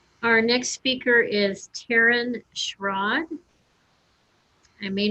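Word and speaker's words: Schraad: you very much our next speaker is taryn schrod i may not have pronounced that correctly but taryn schrod s-c-h-r-a-a-d he did pronounce that correctly thank you my name is taryn schrad and i'm from la compton kansas and i'm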